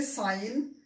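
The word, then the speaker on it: sign: करेंगे, इनको हम साइलेंट कर देंगे, इनका हम उच्चारण नहीं करेंगे। ठीक है, तो पढ़ेंगे क्या, इसको पढ़ेंगे साइन, ये है डिजाइन, फॉरेन, रेन।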